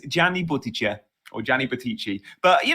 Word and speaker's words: Butticè: There's an accent on the E, and because there's an accent on the E, it's not Buttice or Batiste. Oh, I know it's though. Butticè. As my mum would, or Butticè, like Butticè if you're in Italy, or Butticè if you're in England.